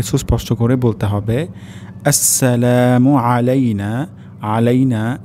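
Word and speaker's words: عَلَيْنَا: আসসালামু আলাইনা। প্রথম শব্দটি হবে আসসালামু আলাইনা। এখানে সিন আমাদেরকে সুস্পষ্ট করে বলতে হবে। আসসালামু আলাইনা আলাইনা এখানে আইন উচ্চারণ হবে আমাদের অনেকের ক্ষেত্রে আলাইনা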